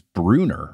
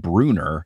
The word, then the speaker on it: Brunner: with the TV show was Bruner for Bruner because all this time Mr Brunner it's b r u n n r so when I read